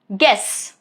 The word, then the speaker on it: guess: For example, guess, guide, guilt, all of these three. As you can see, letter U is right after letter G. So U is not pronounced. G is going to take care of it.